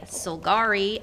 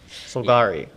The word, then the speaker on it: Solgari: does yes gotcha yes uh how do you spell that name by the way the the name sir Corda uh t-a-k-o-r-d-a solgari s-o-l-g-a-r-i gotcha mm-hmm aka the siren the siren